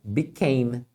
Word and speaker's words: became: O passado dele, você vai trocar a vogal principal, que é a sílaba tônica, é aquela que você fala mais forte, né? Become, por A. Então é became, tá? O E final você nunca fala mesmo, tá?